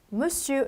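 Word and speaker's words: Monsieur: 발음은 어떻게 한다구요 자 원래 스펠 기아 상관없이 알싸 배 그처럼 읽어 주시면 되세요 그래서 절대 bm 의 소리 나지 않고 매치 6 자 미스터 불어로 물 슈 라고 해요 자 원래는 불어서 결혼을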